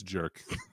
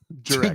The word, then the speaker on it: Jurek: I think it's Jerk. Jurek. Jerk. Not Jurek, but Jurek.